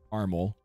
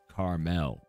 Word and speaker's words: Carmel: I live called Carmel it's not Carl and it's not caramel it's Carmel and I know that's